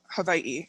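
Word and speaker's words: Hawaiʻi: So Hawaii was an Hawaii is the proper name, the way to pronounce it.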